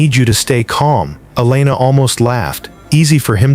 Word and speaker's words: Elena: Elena, he pronounced it correctly, with the proper Spanish emphasis on the second syllable.